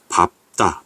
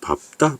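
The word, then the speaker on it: 밟다: 니은으로 발음하고 여덟 리로 발하네요 그다음에 갑피 으로 발음합니다 자 그래서 밥다 밥지 요거 외워 드시고요 넓죽하다 넓둥글다 외워두세요 밥다 밥지 여러분 밝다 아닙니다 밥다 밥지 여러분 주의할 바람이 어 박다 박다 빛이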